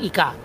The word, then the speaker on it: ika: Ika saya membacanya dengan A ya karena ini masih transisi antara Jawa ee ee apa Jawa kuno akhir dengan zaman Islam.